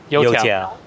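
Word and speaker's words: 油条: And if we see a Youtiao place, we can get a Youtiao.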